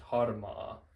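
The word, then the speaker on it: harmaa: It does end in the two vowels, and the two vowels only make one sound. It's not like vaikea, it's just harma.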